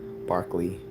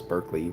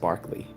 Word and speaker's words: Berkeley: California but it's he it was pronounced Barkley well even those of